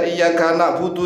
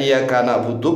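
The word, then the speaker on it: إِيَّاكَ نَعْبُدُ: Orangnya musyrik, ya musyrik ini orang yang menyekutukan Allah karena Maknanya iyyaka na'budu kalau tanpa tasydid adalah sinar matahari. Kepada sinar matahari kami menyembah, dan kepada sinar matahari kami minta pertolongan.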